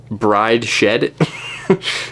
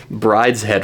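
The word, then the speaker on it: Brideshead: W Brides head Revisited which also looks like it could be pronounced bride shed um but who do that that's stupid why would I say that um anyways Brides head Revisited um apparently this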